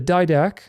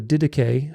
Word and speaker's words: Didache: The Didache, or the Didache, how some people pronounce it, in the 2nd century,